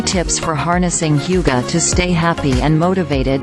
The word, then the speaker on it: hygge: Wiking is the CEO at the Happiness Research Institute and an expert on hyoo-guh, pronounced hyoo-guh, a Danish word that loosely translates to coziness or comfort.